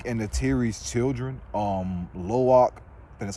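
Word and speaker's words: Lo'ak: all of Jake and the Terry's children um lowak and that's how you say his name uh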